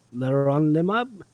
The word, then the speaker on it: leronlimab: What else about Leronlimab?